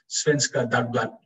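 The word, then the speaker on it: Svenska Dagbladet: of the newspaper properly svenska that blood is what i've been told it's pronounced it was produced by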